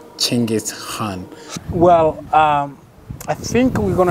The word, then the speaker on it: Chinggis Khan: Like some people say Chinggis Khan, some about it. Genghis. Yeah, but yeah. The proper way proper is... Way, proper way is Chinggis Khan. Chinggis Khan.